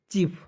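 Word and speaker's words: chief: ठीक है यानी कि साइलेंट कर देते हैं ठीक है और एक जब भवेल को यहां पे काटिए तो ये आई बचेगा तो आई की छोटी की मात्रा का प्रयोग कीजिएगा और एफ का लिख दीजिएगा फ चफ अब बताइए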